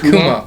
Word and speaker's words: Kumo: Kumo. Kumo. If you're going with what I said. Japanese for a spider.